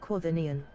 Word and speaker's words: quaternion: It's pronounced Quaternion.